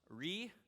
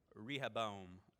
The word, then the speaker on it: Rehoboam: It's pronounced Rehoboam. Rehoboam.